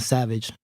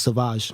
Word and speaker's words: Sauvage: Well, it's pronounced. I'll call it Savage, but it's Sauvage.